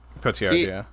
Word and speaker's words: Cotillard: Cotillard. Cotillard.